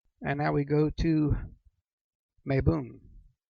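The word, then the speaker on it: Mabon: now we go to may boom it's also a pronounced may bone or mob boom this is the autumn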